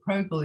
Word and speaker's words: Zoe Progel: As far as I know, that's how you pronounce it, Progel.